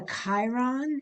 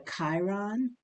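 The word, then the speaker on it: chyron: three different lines type it's called a Chiron it's spelled uh chyon but it's called a Chiron and um that the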